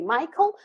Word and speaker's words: Michael: Tomek and the name Michael strangely yeah so we say Michael we spell it with ch well I don't know